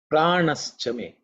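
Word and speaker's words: प्राणश्च मे: Pranaschame. Pranaschame. Pranaschame. Very simple, I think, to chant. There are no difficult consonants here. When the mantra is split, it's pranaha chame.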